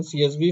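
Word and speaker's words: CSV: सीवीएस नहीं, सीएसबी, correct pronunciation, सीएसबी file में रखा है, और वो एक्सेल ही होता है लेकिन सीएसवी फाइल है, कॉमा सेपरेटेड डेटा है।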